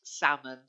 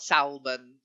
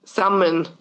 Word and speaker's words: salmon: The only other word there, and you have had this one before, but don't worry, it's that L in salmon is silent. It's just salmon, not salmon. Yeah, salmon.